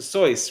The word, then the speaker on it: Seuss: It's Dr. Seuss. Rhymes with voice.